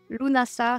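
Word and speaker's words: Lughnasadh: imbolk et Lunas LNAs vous allez m'entendre le prononcer plein de façons différentes lunasa c'est la version juste et lunasa c'est des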